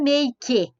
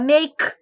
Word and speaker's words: make: Vejam que os verbos que terminam com a letrinha E, esse E não é pronunciado. Você não fala make, você fala make. Então, esse E, ele some.